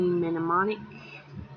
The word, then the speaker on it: Mnemonic: Then I watched Johnny Mnemonic. That's how you say it.